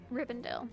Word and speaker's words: Rivendell: yes Rend riend riend is that how you pronounce it rivendel Rivendell R okay we're going to Rend next we